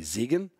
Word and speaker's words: Zeigen: And in German, if the E is before the I, you pronounce the I. If it's the I is before the E, you pronounce the E.